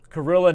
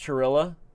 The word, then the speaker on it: Kirilla: We got Kirilla from Kirilla, not pronounced Chirilla.